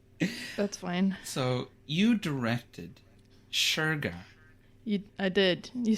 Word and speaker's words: Shergar: A lot of people saying sugar. But it's not. It's not sugar though.